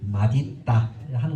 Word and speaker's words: 맛있다: 의미가 있을 때도 달라집니다 맛있다 어떻게 읽어야 되나 맛있다 우리 보통 맛있다 하는데 있다라는 말은 또 의미가 있어요 따로 그러니까 맛있다라고 하는 것이 정확한 이게 발음입니다 그래서 연이어서 맛있다라고 입지 않고 막 에다가 있다를 붙여서 마디 있다라는 것이 정확한 발음이 되겠습니다 성적이 나올지 모르겠어요이 맛있다가